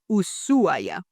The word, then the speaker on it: Ushuaia: But how locals will say it is without the h. So it would sound usua.